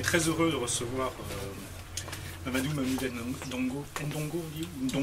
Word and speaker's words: N'Dongo: On est très heureux de recevoir Mamadou Ndongo. Ndongo, on dit Dong. Tu ne prononces ni le N ni le O. Ndongo. Dong.